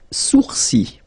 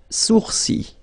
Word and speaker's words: sourcils: Les sourcils. Les sourcils. Okay, so it's quite strange because you get this LS at the end, but then, well, you don't pronounce them. Les sourcils.